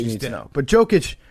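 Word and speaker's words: Jokić: I need to know how to accurately mispronounce his name. It's Jokic.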